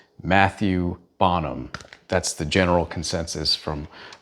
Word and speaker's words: Matthieu Bonhomme: For one, I learned how to say the artist's name. I'm just going to go ahead and say it the American way. His name is Matthieu Bonhomme.